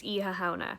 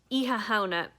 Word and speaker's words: Oíche Shamhna: of the video going so i just said the happy halloween is hahana so that's slightly incorrect ihauna is irish for halloween hauna is a variation